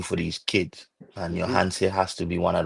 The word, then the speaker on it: Yohance: Uh, We saying Johans. yeah, Then the man. man tell us is Johanse.